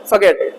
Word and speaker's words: forget: जैसे ही समृद्धि उसके जीवन में आई, affluence in his life, समृद्धि आई, अमीरी आई, made him forget, are silent है, forget, भूल गया वो, ठीक